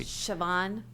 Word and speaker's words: Siobhan: when you uh to to get the correct pronunciation of your name so if you could help me siobhan okay welcome siobhan thank you i'm